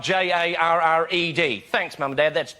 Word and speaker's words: Jarred: Jared is spelled J A R R E D.